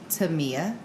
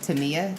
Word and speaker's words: Tamia: Tamia or Tamia. No, it's not Tamia. No, it's Tamia.